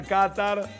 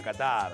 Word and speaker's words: Qatar: Ser que se diga Qatar y en la occidentalización se le diga Qatar.